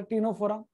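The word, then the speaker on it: Ctenophora: PCC पामे high court, P means porifera, C means Coelenterata, C means भले silent है पर टीनोफोरा, P means Platyhelminthes, A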